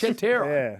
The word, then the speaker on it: Satura: A A is pronounced Satura. Yes. All right, nice. No, you can say it a bit quicker like that, yeah. Satura. If you have a break in between the words, it doesn't sound as good.